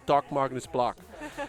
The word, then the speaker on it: Dag Magnus Bloch: Dag Magnus Bloch. I'm now pronouncing it German, not American. You see that? I changed because I gotta say Doc Magnus Bloch.